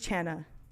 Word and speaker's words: Chana: If you're just now tuning in, my name is Chana. Yes, it rhymes with banana.